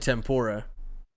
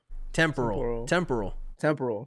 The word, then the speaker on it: temporal: I almost said tempura, as in the shrimp. Temporal. Mm-hmm. Temporal. Mm-hmm. I said temporal.